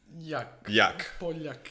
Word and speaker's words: Poljak: So with us, I don't know how to pronounce it well, it's Poljak. Poljak, yeah.